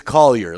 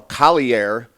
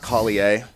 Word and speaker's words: Collier: No, I mean, it's Collier. Like, I'm Scottish. Okay. I mean, it comes from the word coal miner.